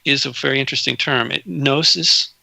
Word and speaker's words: Gnosis: Gnosis, spelled with a G.